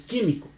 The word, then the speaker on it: químico: Y químico pues pasa la misma historia, entonces tú no dices químico ni químico, dices químico. Entonces dices químico, tiene el acento en la tercera sílaba.